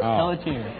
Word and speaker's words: Pelletier: Pelletier. I said it exactly right. Pelletier, you said. You made too many syllables. It's Pelletier.